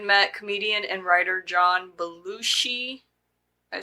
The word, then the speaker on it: Belushi: this time Acro met comedian and writer John balushi I say that right yes okay who had